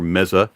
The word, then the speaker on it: Meze: This is the Meze Lyric, or Meza, as some people pronounce it.